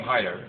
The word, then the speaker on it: Heider: reintroduce or you set my name is Haider I'm the uh public information officer for clus County and the last name is spelled h EI d r and uh the